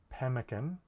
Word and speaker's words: pemmican: write two m's uh the way that we pronounce pemmican in english isn't twice as much as the way we pronounce that the m in mitten for example m is